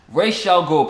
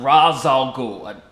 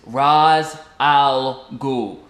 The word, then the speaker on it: Ra's al Ghul: Yes, Ra's al Ghul, people, not Ra's al Ghul. I tell you, Nolan pronunciation just it's Ra's al Ghul.